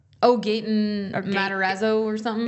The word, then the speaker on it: Gaten: Gaetan. Oh, Gaten Matarazzo or something. Is that how you say his name? Yeah. I thought it was Gaetan. Gaten. Yeah, it's like Gaten.